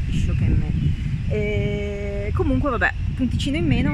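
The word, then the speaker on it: 一生懸命: Vabbè, pazienza, che poi si legge Ishokenmei.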